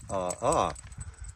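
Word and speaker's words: ʻaʻā: AA is a Hawaiian term, which is pronounced ah-ah.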